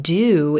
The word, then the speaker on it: do: So instead of hearing the blue moon ooh, do vowel, it's pronounced duh. You hear the cup of mustard sound, and it's very quick.